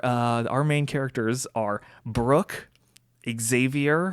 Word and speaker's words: Xavier: They are, our main characters are Brooke, Xavier, or Xavier as they pronounce it, Montana, Ray, and Chet.